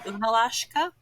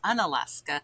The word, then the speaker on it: Unalaska: Uh the original native name is Unalashka. So throughout the years um they shortened it for pron pronunciation. So um the native name is unalashka and uh now it's an Alaska but a lot of people know it as